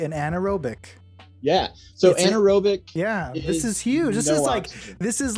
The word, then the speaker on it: anaerobic: So anaerobic.